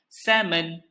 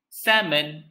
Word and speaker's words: salmon: is none other than salmon salmon when you pronounce this word make sure you silent the letter l shh let the letter sleeps so you say salmon do you like salmon